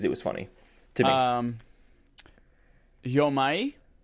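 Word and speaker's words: Jo-Mei: Yomai is how the person from the studio actually pronounced this name. Yomai Games versus Jomei and Jomai are 2 other ways that people said it.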